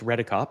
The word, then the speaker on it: Redekop: So pronouncing my last name is basically as it looks, Redekop.